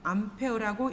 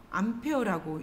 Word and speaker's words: 암페어: 마이너스 전하가 흘러가는 것을 전류라고 하고 단위에는 A라고 쓰고 암페어라고 읽습니다. A라고 읽지 않습니다. 단위는 암페어라고 읽습니다.